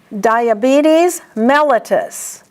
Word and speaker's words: diabetes mellitus: So you pronounce them diabetes mellitus.